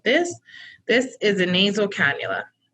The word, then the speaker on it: cannula: this is a nasal cannula one depends on how you want to pronounce it canola it's cannula but you'd be surprised so